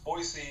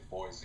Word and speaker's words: Boise: Boise, and that's how they say it. They don't say Boise, it's Boise, is unbelievably dull, and you can't make it exciting.